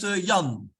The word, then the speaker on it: Jan: Yeah, Jan, is it Jan or Jan? Jan, how do you pronounce your name? It's pronounced Jan.